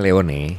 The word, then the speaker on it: Leone: 70-an lahirlah Subaru Leon Leon tulisannya le Hai lewat bacanya Gimana Pak sebetulnya bacanya Leony dengan nah Leony itu sebetulnya bahasa Itali yang artinya layer Oh singa Kenapa binatang juga